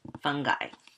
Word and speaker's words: fungi: membrane-bound nucleus the next one is the kingdom fungi or sometimes pronounced fungi actually I have a joke that relates to